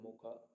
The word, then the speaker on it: Mocha: Cyclones recently cyclone is named as Mocha, pronounced Mocha, suggested by Yemen after the Red Port city.